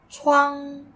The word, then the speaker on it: 窗: 那是窗。那是窗 Which tone is the word 窗? Yes, that's the first tone. Flat and high.